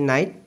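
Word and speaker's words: knight: stars এ নাই নাই এ দুটা নাইট দিয়া আছে দুইটা উচ্চারণকে কে এন আই জিএসটি নাইট নাইট মানে হল রজা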